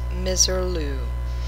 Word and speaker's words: Misirlou: the Black Sea coast the pronunciation by Pontic Greeks is misirlou the first known recording